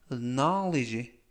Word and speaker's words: knowledge: 뒷부분에 있는 알파벳 D, 즉 정리하면 이번 단어에서 묵음이 총 3개인데요. K, W, D 이렇게 3개가 발음이 되지 않습니다. 그래서 발음이 되는 철자는 N, O, L, E, G, E. 그래서 knowledge, knowledge 라고 발음하시면 되겠고요. 이때 N 다음에 있는 알파벳 O는 아 발음에 가깝습니다.